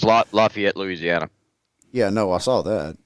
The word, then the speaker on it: Lafayette: justify it's laughing yet i said lafayette they said it wrong again said it wrong again i didn't say lafitte that's a whole different place i know it is